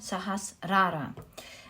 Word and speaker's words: Sahasrara: which is the sahasrara sahasrara is the right way i believe to pronounce it now this is the